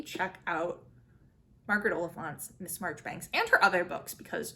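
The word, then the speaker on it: Marjoribanks: Lucilla March thanks and yes it is pronounced March Banks I don't don't ask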